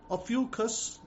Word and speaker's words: Ophiuchus: Ophiuchus, that's how they pronounce it, November 29 to December 17.